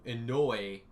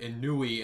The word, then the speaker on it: Inoue: You know, I was doing a documentary on a show, and the guy's name was Satoru Inoue, and I pronounced it Inui, and I said it like 50 times, and I wasn't corrected until the video was done.